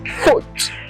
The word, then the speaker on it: faute: Now, when E ends a sentence, if that E does not have an accent on top of that E, which is accent aigu, that E is silent. You have to pronounce the last consonant before the E. For example, faute, faute, faute. You see that here we pronounce the T, we do not pronounce the E.